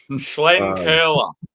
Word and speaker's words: Schlenkerla: So when I'm saying I mean I'm actually pronouncing it correct. Schlenkerla.